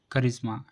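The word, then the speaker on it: charisma: तो हमें सी एच को का से पढ़ना है। जैसे कैरेक्टर करिश्मा।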